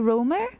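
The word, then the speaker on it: Römer: OE is pronounced as O in English? Okay. So, Romer?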